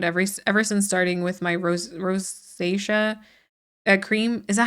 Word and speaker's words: rosacea: It's not like not like Rosa whatever. It's like rosacea.